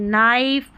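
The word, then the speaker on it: knife: हम यानी न पढ़ेंगे के एन को के साइलेंट है। जैसे देखिए नाइफ नो नी यहां पे जो शुरू में के आ रहा है वो साइलेंट है।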